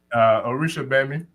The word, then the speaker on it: Orisha Gbemi: Orisha Gbemi. Orisha Gbemi? Yes, sir. So the G doesn't have a sound? No, I believe it's silent. The G is silent.